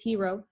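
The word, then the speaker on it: héros: show you in 47 we have the word in French for hero which is spelled the same way but we have an S at the end but it's and anyway it's hero and we say label the arrow repete not make a liaison like I normally could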